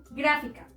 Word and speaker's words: gráfica: Las palabras sobre esdrújulas son aquellas que terminan o que podemos encontrar la sílaba tónica antes de la antepenúltima sílaba y debemos acentuarla siempre, como en las siguientes palabras.